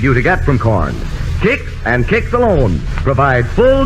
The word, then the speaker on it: Kix: foods remember how the flavor of kicks has won america and look for that seal of acceptance of the council on food cakes is spelled k-i-x another tool made famous